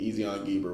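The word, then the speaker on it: Ezion-geber: And King Solomon made a navy of ships and uh Ezon Gabber is how I always pronounce it. It could be Ezon Gber, whichever, which is beside Elath on the shore of the Red Sea in the land of Edom.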